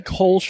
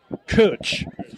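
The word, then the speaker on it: Kölsch: I've also heard uh kosh, but it's one more time. Coach. Cooch. Almost like coach as in the handbag, but instead of an O, a U.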